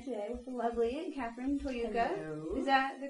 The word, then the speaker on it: Toyooka: I am here today with the lovely Catherine Toyooka. Hello. Is that the correct pronunciation? Toyooka. I'm sorry. So Catherine Toyooka, who's joined us today from California.